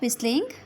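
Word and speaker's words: whistle: सीटी बजाना बंद करो, स्टॉप विस्लिंग, स्टॉप विस्लिंग। इसमें टी साइलेंट हो जाएगा, इसको हम विस्ल पढ़ेंगे, विस्लिंग, स्टॉप विस्लिंग।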